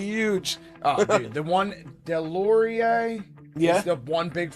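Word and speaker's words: Deslauriers: Oh, dude, the one Delorier. Yeah, is the one big fighter. Am I saying his name wrong?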